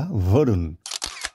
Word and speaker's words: বরুণ: বাঙালিদের মতো নাম হলেও আসলে বরুণ উচ্চারণটা ভরুণ।